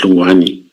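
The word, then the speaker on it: Hlungwani: Yeah, because the way I spelled his name here is H L U N G W A N I. So that is Luani.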